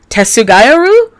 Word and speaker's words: Tetsugaia: And so her name is pronounced Tetsugaia, which sounds very weird, and I probably butchered it, because it's not my native tongue.